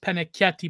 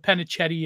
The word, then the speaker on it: Pennacchietti: You know, but my last name is, well, technically pronounced Pennacchietti, but Pennacchietti is the Anglo.